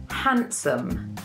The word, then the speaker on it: handsome: may use this word, handsome. Handsome. So handsome describes a man who is very beautiful, very good-looking, very hot. As you can hear, we don't pronounce the D in this word.